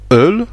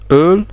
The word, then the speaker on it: Öl: avec les deux points, ça se prononce E, comme le E français, comme dans le mot Öl, qui veut dire huile, ou comme ça on voit l'origine germanique avec oil, donc Öl, voilà, c'est Öl.